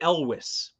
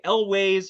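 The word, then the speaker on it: Elwes: with very Elvis Carrie elwis I I asked him uh last time I met him look people say Elway's how do you pronounce it he said Elvis with a W so elwis Carrie elwis so the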